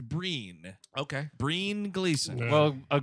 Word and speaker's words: Brian: them according to imdb trivia his name is pronounced breen okay breen gleason well a gleason uh famously